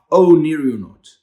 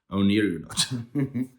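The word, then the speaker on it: Oneironaut: It's Onirionaut. That's how you say it. Onirionaut. O, Nero, like the old Roman emperor, and then naut, like in an astronaut, the odd.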